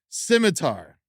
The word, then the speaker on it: scimitar: Oh, you want to see what a shimmer is, right? Is that how you pronounce it?